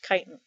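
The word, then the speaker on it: chitin: are composed of kiten remember this word looks like chitten but it's pronounced kiten so let's do a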